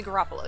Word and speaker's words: Garoppolo: you say that name carafello that you say that right so there's a pass to it or a garoppolo oh frick how do you say his name jimmy garoppolo yeah throws a pass to